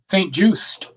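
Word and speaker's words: St. Juste: St. Just, Tay.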